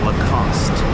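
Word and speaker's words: Lacoste: That final e is silent. Lacost.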